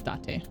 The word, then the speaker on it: Date: to meet you well his name is datte so the pronunciation is uh not like the english pronunciation it would be japanese what date i have